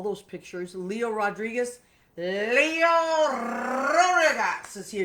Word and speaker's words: Rodriguez: Leo Rodriguez is here. You have to roll your R's when you say Leo Rodriguez.